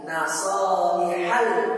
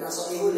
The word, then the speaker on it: Nasaihal: Nasaihal, bukan nasaihul, ya, karena itu sebagai objek.